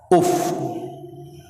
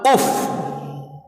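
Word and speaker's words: أف: Yang kedua, kalimat yang dua huruf yang tidak boleh diucapkan adalah kalimat alif dan fa. Uf.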